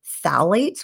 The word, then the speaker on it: phthalates: Another important hormone disruptor in plastics is called phthalates, which is spelled with a silent P. So don't ask me to spell it right now, but phthalates.